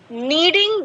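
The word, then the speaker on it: kneading: बाद में आई एम नीडिंग the dough so my hands are dirty नीडिंग के इसमें आवाज नहीं आएगी के इसका खामोश है साइलेंट है ठीक है आई एम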